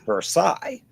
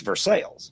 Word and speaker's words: Versailles: He defined everywhere else but Eastern Kentucky, it's pronounced Versailles, but in Kentucky, it's Versales.